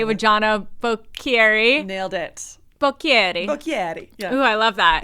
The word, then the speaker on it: Bocchieri: Bocchieri. Yeah. Ooh, I love that. Easier to say it when you pronounce it.